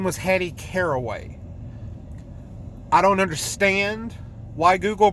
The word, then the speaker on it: Caraway: and call her carry weight her name wasn't Carrie way her name was Hattie caraway I don't understand why Google pronounces it Carrie way it's spelled see ara